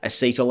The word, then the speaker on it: acetyl: So I said before, any fat burner is going to have L-carnitine or acetyl L-carnitine. I believe, unlike other people, I've pronounced acetyl correctly there.